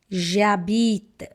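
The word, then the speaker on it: j'habite: We will not even consider letter h. That's the reason here also we have to drop letter uh from and it will become jabit jabit that is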